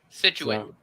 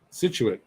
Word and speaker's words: Scituate: to turn above it situate oh you're close situated scituate okay close enough all right below it haverhill